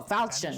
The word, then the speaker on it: Falchion: Marth sets out to reclaim the divine sword Falchion, and with it Oh, Falchion, that's how you pronounce it.